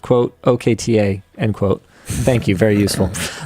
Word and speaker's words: Okta: yeah I thought so Arbiter K says it's pronounced quote okta endquote thank you very useful the show is